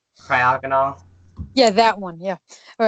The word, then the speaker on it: Cryogonal: Cryogenical. Cryogonal.